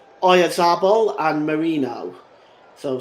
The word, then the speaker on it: Oyarzabal: And it was nearly Oyarzabal. I'll get that pronunciation right. It was nearly Oyarzabal, I should say.